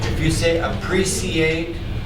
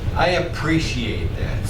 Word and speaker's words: appreciate: If you say appreciate, Appreciate. okay, but it's got a sh. Usually pronounced. I appreciate that.